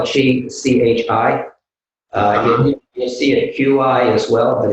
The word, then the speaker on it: Qi: You'll see it Q-I as well, but it's pronounced Qi.